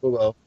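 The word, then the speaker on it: Bubo: Boo-bo. I don't want to hear it. Because you mispronounced it and you threw me for a loop. It's Boobo.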